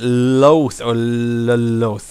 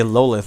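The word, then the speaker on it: Lolth: because i don't understand they made it very clear in the books that the drow pronounced it loath but they don't say lolith like everyone else does they pronounce it differently but here they pronounce it like everyone else in the world i guess i'm asking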